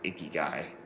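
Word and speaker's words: ikigai: a japanese word um it's pronounced icky guy and that's basically um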